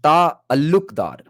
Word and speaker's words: Talukdar: So the actual surname Talukdar is supposed to be pronounced as Ta Alukdar.